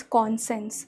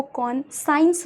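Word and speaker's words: conscience: बेटा ये जो वर्ड है बहुत से बच्चे इसको कॉन साइंस बोलते हैं क्योंकि इसकी जो स्पेलिंग है वो साइंस की है। ये कॉन साइंस नहीं होता है, इट इज़ कॉन्सेंस।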